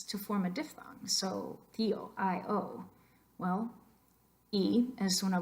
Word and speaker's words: tío: for uncle in Spanish, how would you say that in one syllable? Try it. I bet you sound pretty silly. I will do it myself. Tío, tío, es ridículo. No queremos decir tío, sino tío.